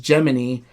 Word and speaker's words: Jiminy: you run into them Jiminy it's pronounced geminy and he's like in